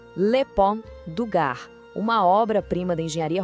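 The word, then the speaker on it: Le Pont du Gard: Vamos lá na pronúncia. Lepon DAR, uma obra prima da engenharia romana que inacreditavelmente ainda está de pé depois de 2000 anos desafiando o tempo.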